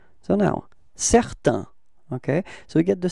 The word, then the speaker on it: certain: So now, certain. Okay, so we get the sound A-I-N, it's un, okay? Certain, repeat. Okay, feminine form, it's certaine, N-N, certaine, repeat.